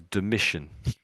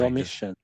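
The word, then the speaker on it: Domitian: This is a name you won't come across, but although it's not though it's a T, we pronounce it as dimmission. Strange. Domission.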